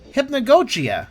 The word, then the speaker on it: Hypnagogia: And you pronounce it Hypnagogia.